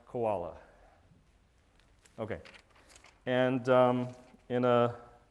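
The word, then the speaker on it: CWoLa: day of the week that's pronounced koala okay and um in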